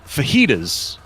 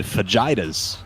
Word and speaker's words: fajitas: microphone, tried to say fajitas, which would be a good answer. Fagas. Oh god, where is this? Said it phonetically and said fagitas.